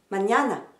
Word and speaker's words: mañana: Mañana. Eh bien, quelle que soit la façon de le dire, l'accent sera toujours sur la deuxième syllabe.